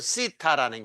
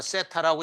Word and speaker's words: 세타: 시타라는 게 이거 이제 그 발음은 이렇게 하는 겁니다. 시타. 땡큐 할 때 그 th 있죠. 그거에 해당돼. 시타. 뭐 세타라고 읽어도 좋고 또는 좀 이제 예시대로 돌아가서 이렇게 읽어도 좋고 요게 이제 오히려 더 가까운데 시타, 세타 그렇게 읽도록 하고요.